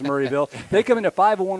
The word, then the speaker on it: Maryville: Coach Hicks letting us know that it is pronounced Murrayville even though it's spelled Mville. So I don't have a cold. It is pronounced Murrayville.